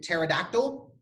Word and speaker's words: pterodactyl: The P is silent, like in pterodactyl.